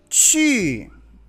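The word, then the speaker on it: 去: Chi. Q-U. Acuérdense cómo pronunciar la Q. Era como un estornudo, ¿verdad?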